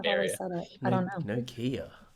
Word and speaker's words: Nokia: Nokia. Nokia. How do you say it, Harry? Nokia. Yeah. Yeah, Nokia. Okay. No, I don't think any American would pronounce that spelling with like a nah sound.